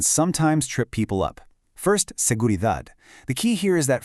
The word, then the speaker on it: seguridad: First, seguridad. The key here is that final D. We want a sharp D sound, not a soft th sound. Listen closely. Seguridad.